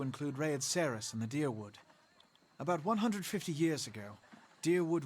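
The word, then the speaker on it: Dyrwood: other scattered caravaners die deerwood is how you say this okay i was wondering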